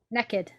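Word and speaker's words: Neiked: was a ship um i think it's how you pronounce it but it's spelt weirdly naked it's they've literally spelled it n e i k e d naked naked naked yeah well that's what it sounds like new politics okay nickelback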